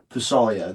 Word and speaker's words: Pasda'lasagne: Pasda'lasagne. The G is silent. You're the silent G.